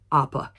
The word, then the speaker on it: Opa: was pronouncing it wrong it's not a as an apple it's a Opa so we live and